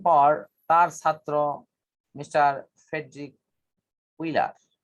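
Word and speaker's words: Wöhler: কিন্তু এর কিছুদিন পর তার ছাত্র মিস্টার ফ্রেডরিক উইলার, জার্মান ভাষায় ডাব্লুর উচ্চারণ ভ হওয়ায় এখানে আমরা ভোলার লিখি, কিন্তু ইংরেজিতে উচ্চারণটা হলো উইলার।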